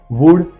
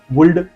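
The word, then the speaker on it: would: अब ध्यान से देखिए, कुड, वुड एंड शुड। COULD, यू के पीछे एल है, हमने पुल्ड नहीं बोलते इसको, जिसको पढ़ना नहीं आता पुल्ड, वुल्ड, शुल्ड पड़ेगा। जैसे एल साइलेंट है यहाँ पे, कुड, शुड एंड वुड।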